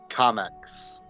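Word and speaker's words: Comix: Comics. Comics. Like comic, but X.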